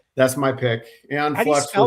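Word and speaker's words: Æon Flux: So, back in 91, MTV Liquid Television um uh uh had a show called Aon Flux on. Yes, that's my pick. Aon Flux. Spell that.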